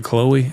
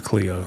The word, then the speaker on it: Cleo: Yeah. pronounced Cleo. Did I say something different? I probably did. Did I say Chloe? I think it's Cleo.